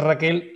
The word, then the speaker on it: RKL: De hecho, mucha gente dice que es Raquel, RKL es si lo pronuncias, es Raquel, y nos acordamos mucho